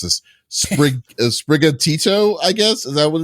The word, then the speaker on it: Sprigatito: Sprigatito, I guess. Is that what it is? Sprigatito? Yeah, that's what it is. Yeah. You gotta say it like with that. It's Italian stereotype.